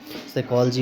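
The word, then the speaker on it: psychology: लोजी तो यहां पर इसका प्रोस क्या होगा साइकोलॉजी हो जाएगा ठीक है ध्यान देना साइकोलॉजी हो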